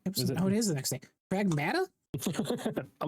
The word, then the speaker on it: Pragmata: it's pronounced Pragmata. Pragmata.